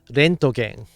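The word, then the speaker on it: レントゲン: Actually, the word X-ray in Japanese is Rentgen. They used his name to mean X-ray. Rentgen.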